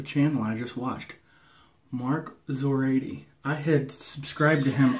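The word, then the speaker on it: Szorady: He just said how to pronounce it in his review video, Zoradi. Kind of like Zorro, right?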